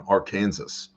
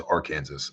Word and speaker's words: Arkansas: Anyway, Arkansas, but don't even pronounce it as Arkansas. Arkansas. Why does it have another S on the end?